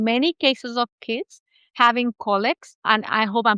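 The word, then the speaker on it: colic: I've actually personally seen many cases of kids having collects and I hope I'm pronouncing it the right way. Yeah, collic.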